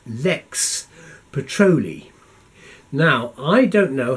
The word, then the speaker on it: Lex Petrolea: I talked about this we had a disagreement about the pronunciation of Lex patrol e to start with but once we got over that I said it's Lex Patrol II and that's all I'm